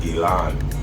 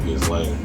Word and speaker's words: Ghislaine: Now, in order to get a better idea of who Ghislaine Maxwel is, and her name is pronounced Ghislaine in French, but we call her Ghislaine or Ghislaine Maxwel.